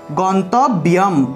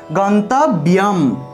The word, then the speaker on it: গন্তব্যম: ব্রহ্মৈব তেন, ব্রহ্মৈব তেন গন্তব্যম, এখানে একটি জফলা থাকায় ব্যম, উচ্চারণটা হবে ব্যম, গন্তব্যম, ঠিক আছে, অনুসার থাকায়